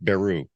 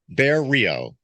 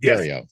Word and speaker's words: Berriault: brain block and and your last name is spelled way different than it sounds yes the GE the French Canadian names exactly bar Rio right bario got it yes all right Jeremy